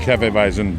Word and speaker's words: Hefeweizen: was gonna be called penny vicen so like Hefeweizen but many hasn't my pronouncing that right yep okay this will make